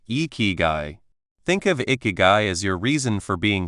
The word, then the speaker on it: Ikigai: Icky say it like I think of icky guy as your reason for being here or simply your reason to wake up in the morning with a happy heart.